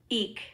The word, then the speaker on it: eke: Eek. Eek! That isn't the same eek like as an eek a mouse. It says E-K-E. Oh, eeka? No, it's pronounced E-E-K, but it's E-K-E.